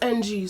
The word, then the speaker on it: Ng: That's how you say it? It's NG, so Ng.